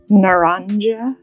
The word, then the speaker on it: Naranja: Nana. Nana. Nana. Dang it. I can't do it. Like conviction nana J's in Spanish pronounced as H's.